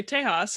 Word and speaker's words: Tejas: no you can't but some people say tejas and spanish which is fine same